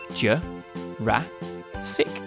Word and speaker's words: Jurassic: ago in the mid to late Jurassic period Joe rah SiC so Brachiosaurus would have been neighbors with Stegosaurus